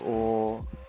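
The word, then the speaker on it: を: Ateawa ben o. Yeah, that's it. In terms of the wo should be pronounced o, just like the letter o.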